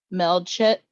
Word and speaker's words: Melchizedek: I think the name is pronounced Melchizedek.